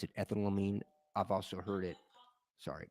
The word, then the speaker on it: ethanolamine: Now, I've heard it pronounced ethanolamine because it's like ethanol and then amine, but it's easier for me to pronounce it ethanolamine.